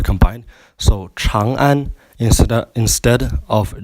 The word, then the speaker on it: Chang'an: And Chang'an is pronounced with a road with a CH and an R combined. So Chang'an instead of Chang'an.